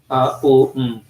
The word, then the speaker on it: Om: You are the shelter of the syllable Om, which consists of three letters A, U, and M. O, M. Okay, Om. Yeah, so it is like a trap also.